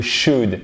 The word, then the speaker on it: should: Au conditionnel, c'est le devrait en fait, c'est le should. Et comme would, qu'est-ce qui se passe? Comme could, on ne prononce pas le L.